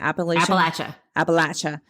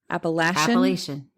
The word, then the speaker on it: Appalachian: So, the Appalachia, the Appalachian Mountains. Appalachian. You're supposed to say it like Appalachia. But it's the Appalachian Mountains. Sure.